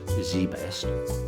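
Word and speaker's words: ZZZZ Best: barry j minkow is a former american businessman pastor and a convicted felon while still in high school he founded zen said zedzed best pronounced zbest which appeared to be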